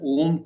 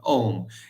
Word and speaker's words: Om: Now, before also we had discussed that Om has three syllables. A, U, Ma. That's how Om. It's an Om. So, A, U, Ma.